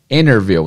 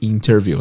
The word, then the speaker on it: interview: hervel sem o ter isso é muito comum o ter depois do Enem inglês muitas vezes não é pronunciado em inglês americano eles falam enerview e interviu na maioria das vezes I was the interview